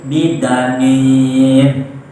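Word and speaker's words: بِضَنِينٍ: Sedangkan ulama lainnya membacanya dengan memakai dal sehingga menjadi bidanin.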